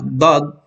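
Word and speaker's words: ض: So, ganun nabibigkas itong letrang dod, okay? Kaya nga, dod, yung mapapansin niyo pag binibigkas ko, dod, okay? Medyo na ano yung bibig ko, di ba? Kasi nga, yung dila ko, dinidikit ko doon sa itaas ng aking ngipin.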